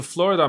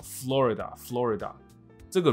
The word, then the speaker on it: Florida: 大家好，我是Paul，周一到周五英文一起读。这新闻很扯哦，他说的是 Florida man wearing red thong as mask kicked off United flight。所以佛罗里达男人，佛罗里达，我常听到台湾同学也没有常听到，因为我们嘴巴上也不是常挂着佛罗里达这个字嘛。但是我真的会听到人家念成 Florida，那不是哦，Florida。这个 Rida 是很快讲过去的，所以 Florida，所以不要念成 Florida， no Florida，很奇怪的一个发音的一个结构，所以